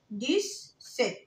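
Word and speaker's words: dix-sept: ديس ست. الإكس بنطقها إس عادي. ديس ست.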